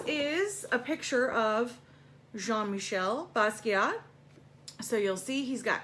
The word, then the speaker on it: Basquiat: this one is jean-michel Basquiat and technically the French pronunciation would be Basquiat but let's just add the T on okay um so the